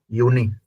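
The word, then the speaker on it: Juni: जैसे कुछ माई माई जून को बोलते हैं जूनी यूनी जे का साउंड नहीं य का साउंड करेगा जे जो है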